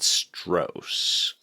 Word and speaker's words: Stross: So you're authoritative that it's pronounced Stross and not Stross. It's Stross.